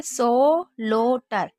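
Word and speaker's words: slaughter: वैसे आप इसे क्या पढ़ेंगे, सो लो टर, स्लोटर, क्योंकि ए यू को ओ ज्यादातर पढ़ा जाता है।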